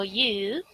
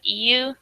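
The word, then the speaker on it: 言う: And then ore, o you, and you is just another pronunciation of iu, so that means to say.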